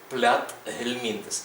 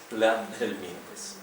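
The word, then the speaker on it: Platyhelminthes: читається як звичайне р як звичайне Т за виключенням одного слова яке ви напевне знаєте плят гельмінтес але тут т і H знаходиться на стику двох складових цього складного слова пля гельмінтес далі Ель вимовляється м'яко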